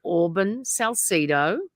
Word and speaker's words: Auburn Salcedo: very generous with her time how do we pronounce that name please you say it Auburn Salcido yes she's the co-founder of rando Nautica and